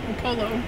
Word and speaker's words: Upolu: Upolu. Upolu.